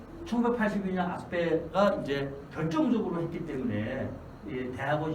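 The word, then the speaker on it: Aspect: 그 중에 이제 여기 아스페라는 사람이 여기 있죠. 프랑스 사람입니다. 그래서 T 발음을 안 해요.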